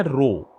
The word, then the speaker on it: rho: सी पूंछ निकाल दो, इस लेटर को पढ़ते हैं रो, RHO स्पेलिंग्स हैं। अच्छा पढ़ के दिखाओ डेंसिटी को। हाँ सही पढ़ा, रो, RHO रो।